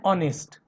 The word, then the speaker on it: honest: And honest. Here also H is silent.